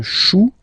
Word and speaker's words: chou: Then un chou. Okay, remember, when you combine this C and H, you get the sound sh, sh, sh.